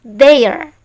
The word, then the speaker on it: their: Milik mereka, bahasa Inggrisnya kemana sudah diajari, kalau ke T dengan H itu suara dal, maka ini dibaca their.